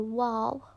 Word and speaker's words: و: Now guys, bear in mind the letter waw, which is pronounced as wa, it means and.